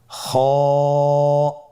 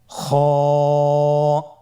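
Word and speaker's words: خ: কিভাবে উচ্চারণ করতে হবে খ হরফটির মাখরাজ হল কন্ঠনালীর শেষ ভাগ হতে উচ্চারণ করতে হয়। কন্ঠনালীর শেষ ভাগ আপনারা আমার সাথে বলুন খ আবার বলুন খ মাশাল্লাহ আমরা তিনটি একই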